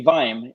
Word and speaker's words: vim: it should be vine huh it should be vime if it's vi and you add another then